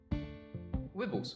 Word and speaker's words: Wibbles: Wibbles, pronounced like nibble.